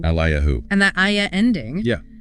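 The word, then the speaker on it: אליהו: It's pronounced Yehezkiyahu in Hebrew. Yehezkiyahu. Or Elijah, Eliyahu. Eliyahu.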